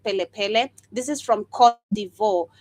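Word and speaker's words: Kplé Kplé: This is KPLE, where I believe the K is silent, so you pronounce it Pele Pele.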